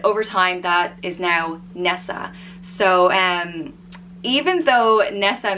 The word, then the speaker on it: Nessa: of other Irish names this one is easy to pronounce it's exactly as it's spelt Ness ah Nessa and the reason I